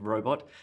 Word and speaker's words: robot: emphasis on dog robot the emphasis on the first syllable in robot fantastic fantastic emphasis on